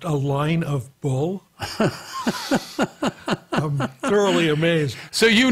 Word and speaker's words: Alignable: Well, first of all, if there's a service which you put in spaces in the name and it's pronounced a line of bull, I'm thoroughly amazed.